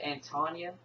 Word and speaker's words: Antonia: It looks like Antonio, but it's Antonia Jensen. Well, her name is Kid Rescue.